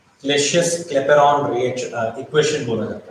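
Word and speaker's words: Clapeyron: क्लेपेरॉन, Y silent है, यह है क्लेसियस क्लेपेरॉन।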